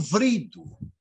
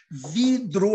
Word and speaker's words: vidro: É até difícil pronunciar esse português que não é português. Vidro é mais fácil pronunciar. E eles acabam, essa coisa de eles terem que palestrar, esse cargo que eles ocupam, eles param de falar vrido e começam a pronunciar vidro. A forma correta.